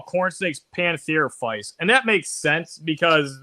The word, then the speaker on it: Pantherophis: They're like, we're going to call corn snakes pantherophytes, and that makes sense because, you know, I could see them being closely related to a rat snake.